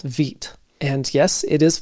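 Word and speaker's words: Vite: recommended build tool called vit and yes it is pronounced vit that's French for quick or fast and to get started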